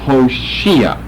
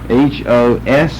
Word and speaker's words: Hoshea: The Old Testament's name is Hoshea, or Hoshea. H-O-S-H-E-A.